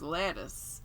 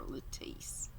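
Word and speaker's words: Lettice: was all right everyone everyone thought it was lettuce and i think it was laura lee told me that's how it's pronounced i was going to call her latisse i might i might call her latisse anyway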